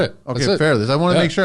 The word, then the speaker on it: Fairles: man thanks so be yeah you said it Fairless I want to make sure I got it